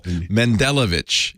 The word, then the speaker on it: Mendelovich: Mendelovich. It's easy. Mendelovich, just like it's spelled.